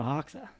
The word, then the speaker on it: Hoxha: Let's welcome Hoxha.